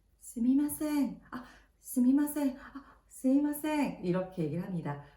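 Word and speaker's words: すみません: 자, 이럴 때 스미마셍, 스미마셍, 스미마셍 이렇게 얘기를 합니다. 제가 지금 스미마셍 말고도 스이마셍이라는 발음으로 좀 다르게 얘기했잖아요. 네, 스미마셍, 스이마셍, 회화에서는 스이마셍이라는 것도 써요.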